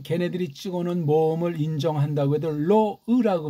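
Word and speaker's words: לֹא: 어쨌거나 이게 로라는 걔네들이 찍어놓은 모음을 인정한다고 해도 로으라고 발음해야 돼요. 오케이? 로으입니다. 소리 안 나는 이응자예요.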